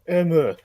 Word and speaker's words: Emu: It's Hojo Emu. Okay, you know what? You can't say this. Gotta say it properly in Japan.